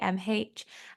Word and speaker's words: Niamh: It's spelled the Irish way, so it's Niamh.